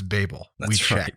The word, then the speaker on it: Babel: yeah and yes he said that correct it's babel according to how they say it in the